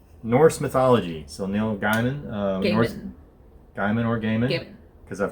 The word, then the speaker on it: Neil Gaiman: confirmation online from neil gaiman himself it is neil gaiman so neil gaiman for all of you that have been mispronouncing it um norse mythology number two comes